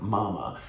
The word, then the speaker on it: MAMA: So you spell it M-A-M-A like mama, and as Thai would say mama.